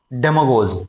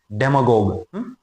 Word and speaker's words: demagogue: डेमागोज। डेमागोज कौन होता है? डेमागोग बोलते हैं, वैसे इसका प्रोनाउंसिएशन होता है DEMAGOGUE। डेमागोग।